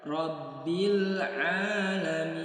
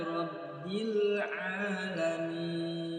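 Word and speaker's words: رَبِّ الْعَالَمِينَ: Kesalahan yang sering terjadi juga yaitu pada huruf ain, kurangnya penekanan. Sekali lagi, huruf ain harus disertai tekanan ketika kita membacanya atau mengucapkannya. Karena huruf ain memiliki kemiripan dengan huruf hamzah, sama-sama berbunyi a. Akan tetapi huruf ain disertai tekanan berubah menjadi a.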